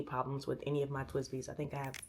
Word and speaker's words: TWSBI: a pen that's like this last one, the TWSBI Eco. So TWSBI, it's spelled TWSBI.